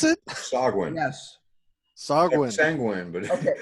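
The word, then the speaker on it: sahuagin: So that's how you pronounce it? Sogwin.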